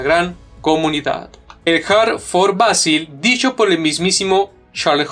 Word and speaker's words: Vasil: Creo que se pronuncia Basil. Sí, es por Basil Davoud.